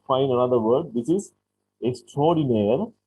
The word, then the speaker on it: extraordinaire: This is extraordinaire. That is pronounced like that, extraordinaire in English. But this is a French word. Extraordinaire is a word borrowed from French. Pronounced in English, extraordinaire.